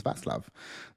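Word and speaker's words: Václav: boy, Vaclav Nestrazel, or Vaslav, because even when I watch, they say Vaslav, so I was like, I called him Vaclav all year long, but now I learned that it's Vaslav.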